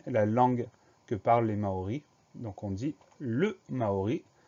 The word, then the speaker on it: Maori: rarement, c'est le mot Maori. Première syllabe, ma, M-A, deuxième syllabe, O, avec la lettre O. Et dernière syllabe ri, R-I.